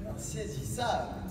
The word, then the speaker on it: Insaisissable: is called Troublemaker, or in French, it's pronounced Insaisissable. See? That's how it is.